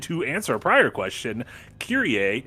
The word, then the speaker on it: Kyrie: Hiya, I caught up with the first VOD over the week, and to answer a prior question, Kyrie is pronounced that way in Latin. It means Lord.